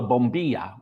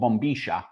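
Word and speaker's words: bombilla: And then you pour the hot water in and then you drink it out of a straw which is called a bombia or in Spanish it's called bombisha.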